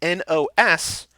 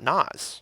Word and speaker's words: NOS: Michaels so Michael says such a client it's pronounced n OS not nas nas but they're yelling nas in the movie